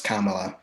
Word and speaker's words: Kamala: No, it's Kamala. She even has a little video that she has pronunciation for it.